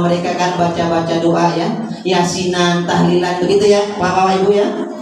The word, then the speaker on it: Yasin: Dibaca itu ya asin. Tulisannya ya asin. Dia bacanya Yasin. Ya, tapi tulisannya ya asin. Kalau kita baca Latinnya ya benar ya asin. Nggak bisa kita baca Yasin, kudu mutabat talaki dengan guru ya.